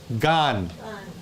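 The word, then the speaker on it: גַּן: people next word Garden notice that the G well the gimo has a the gesh Lenny there okay then you get the Patak and the noon sofit gone gone for garden okay here when you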